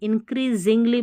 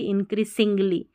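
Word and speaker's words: increasingly: इन एन इन क्री, CREA, क्री, इंक्रीजिंग, SING, Zhengli, इंक्रीजिंगली पढ़ेंगे ना कि इंक्रीसिंगली, इंक्रीसिंगली। एस को ज पढ़ेंगे तो SING, जिंग करके पढ़ा जाएगा, इंक्रीजिंगली।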